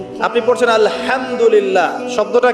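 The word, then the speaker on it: الحمد لله: আপনি পড়ছেন আলহামদুলিল্লাহ, শব্দটা কি? আলহামদুলিল্লাহ। এই হা এর মাখরাজ কোথায়? হা এর মাখরাজ কোথায় বলেন একজন? কণ্ঠনালীর মাঝখান থেকে। এখান থেকে আপনি উচ্চারণ করছেন আলহামদুলিল্লাহ রাব্বিল আলামিন, অর্থ দাঁড়াচ্ছে সমস্ত প্রশংসা জগৎ সমূহের রব আল্লাহর জন্য।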